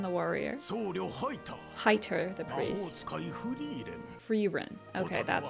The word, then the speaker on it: Frieren: Frieren.